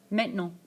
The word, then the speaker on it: maintenant: So I usually break it down into the words in English, main, ten, and ant. But in French it's pronounced maintenant. Maintenant.